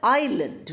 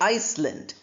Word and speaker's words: island: Similarly, a part of the motor car chassis, then you already know the word island. We don't say Iceland.